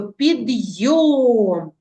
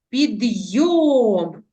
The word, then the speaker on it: підйом: приготувалися всі вимовте слово підйом підйом наголошений склад йом поставили наголос наступне Знайко